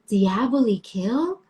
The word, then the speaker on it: Diaboli Kill: But your I was intention like, is it to be pronounced Diabolikill? I pronounce it Diaboli Kill because to me, that's what I had in my head.